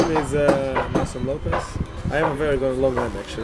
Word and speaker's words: Lopes: Lopes in Portuguese, you say Lopes, not Lopes, but internationally Lopes because my name is English name. So Lopes is more easy for the people to pronounce here.